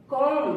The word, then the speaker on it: comb: एम के बाद आया बी हमेशा साइलेंट होता है। जैसे कॉम, COMB, कॉम। COMB, कॉम।